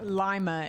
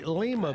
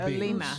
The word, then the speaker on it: Lima: Well, although originating in South America, they're commonly pronounced Lima in English, but they're actually Lima. Lima.